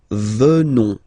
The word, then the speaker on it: venons: Final S not pronounced. So O-N, on, venons, venons.